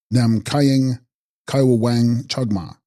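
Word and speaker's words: ནམ་མཁའི་དབྱིངས་ཀྱི་དབང་ཕྱུག་མ: And text, Nam Makaa Devings King Dvang Phung Ma, pronounced Nam Kaying Kaiwang Chagma, Sovereign Lady of the Space of Heaven, Sanskrit Akasa Dhatu Ishvara.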